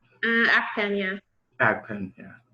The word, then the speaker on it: Akpan: Did I pronounce it right? Akpan, yeah.